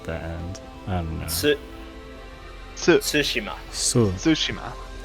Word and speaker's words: Tsushima: It's literally Tsushima, spelled right? T Like with sushi and then Tsushima. ma at the end. I don't know. Tsushima.